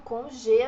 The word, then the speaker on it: congé: Aqui o congé, a gente tem o acento no E, então esse acento puxa a tônica da palavra para o final, congé, e é fechadinho, ao contrário do português.